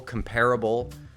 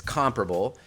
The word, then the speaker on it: comparable: Yeah, a lot of people pronounce comparable, comparable, which is not correct, but it's become accepted. Anyway, it's comparable.